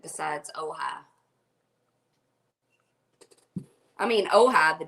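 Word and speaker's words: Ojai: see here oh oh oh and it's called pronounce it OHA now I'm that's because that's not that's not English it's probably not but it's California it's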